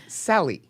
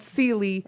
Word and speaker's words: Celli: It's Celli. Okay, not Sealy, like Sealy Posturepedic, and that's the way I was remembering.